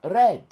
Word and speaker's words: read: Vous voyez un mot qui a deux prononciations. Comme read, R-E-A-D. Vous savez que c'est lire. Mais au passé, c'est quoi? Red. Donc, ça, on prononce ça comme rouge.